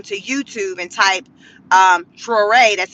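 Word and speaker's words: Traoré: Um I didn't write it down, but you can Google it or go on to YouTube and type um Troé. That's spelled T R A O R E.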